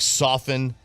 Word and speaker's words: soften: it wow okay um generally the t is silent in like soften hasten hasten yeah it's not something hasten hasten right is it hey Jason and soften and yeah it says